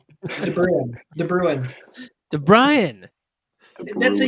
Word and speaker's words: DeBruin: DeBrian. DeBruin. DeBruin. DeBrian. That's a U, not an A. Yeah. DeBruin. The U is silent.